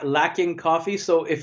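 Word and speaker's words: Luckin: one it's uh uh i know maybe it's supposed to pronounce this looking coffee but it's uh it's not too too old it's l-u-c-k-i-n yeah so it's looking looking maybe i don't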